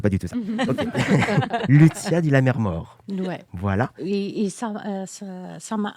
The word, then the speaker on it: Lucia di Lammermoor: Oui, parce que vous avez assisté à une représentation de, alors j'espère que je prononce bien, Lucia di Lammermoor. On demande aux spécialistes de l'opéra, ça se dit comme ça? Lucia di Lammermoor.